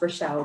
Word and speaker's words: Rachelle: I will correct you though my name's actually pronounced relle but don't I get called Rael oh my goodness I must have a streak